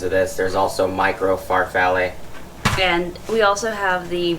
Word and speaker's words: farfalle: It's the mini Farfalle or mini bow tie. What did you say? Farfalle. It's Farfalle.